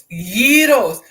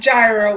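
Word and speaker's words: gyros: and by the way, Chicago is yos, not gyro, not groles. Just saying. I mean, look, if you go to the right restaurant, it literally has the pronunciation on a poster like, "Y'all call it a gyro." And I'm like, "No, it's yo." Simple.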